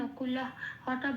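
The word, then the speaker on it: নকুলঃ: নকুল হটা বলছি কিন্তু হ বলে ডাইরেক্ট ওখানে লাগিয়ে দেব না বা উচ্চারণও করবো না।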